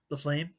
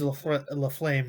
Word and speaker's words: LaFlamme: LaFlame, the Flame. That's kind of how it's spelled.